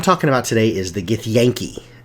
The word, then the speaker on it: Githyanki: is the gift Yankee apparently if I'm looking at Wikipedia and how you say their name I've been saying it wrong for ever 2530 years I've always called it get the yang Chi but when you hear